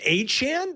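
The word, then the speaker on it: Etienne: I didn't know the ETN brothers were saying that we've been saying their name wrong and it's pronounced Aan.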